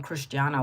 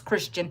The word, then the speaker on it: Christian: My son's name, my youngest son, his name is Christian, but we don't call him Cristiano, but it's Christian. But we spell it Christian.